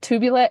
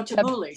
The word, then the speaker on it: tabbouleh: Tubulet? How do you say it? Oh, tabbouleh.